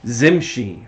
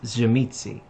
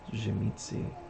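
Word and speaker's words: Tzimisce: back in the day people will be like zimchi i'm like no it's gemitzi they're like how do you know and i opened up a book and right under it it had a pronunciation i'm like that's that's jimmy c and they're like no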